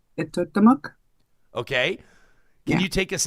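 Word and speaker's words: Etuaptmumk: Yeah, it's pronounced Itotamuk.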